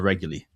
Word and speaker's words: Reguly: You can get to know myself, and uh my co-presenter, Tyler Regley.